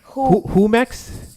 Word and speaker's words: Jumex: It's Jumex, not Jumex. Did I say it bro. wrong? Yeah, you said Jumex. It's who? Humex? Who Yes. like WHO, Jumex. Humex. Exactly.